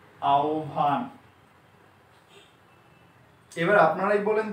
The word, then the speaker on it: আহ্বান: আ, হ এর পরিবর্তনে ও আর ব এর পরিবর্তনে ভ, আহ্বান।